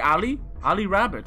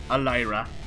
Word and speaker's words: Ali Rabbit: Her name is actually Ali Rabbit. It's completely fine. My dumb brain, fucking boom, actually pronounced it Alira.